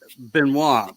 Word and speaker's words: Benoit: There's a couple ways to pronounce it, but we're going to go by Benoit, which is the French pronunciation.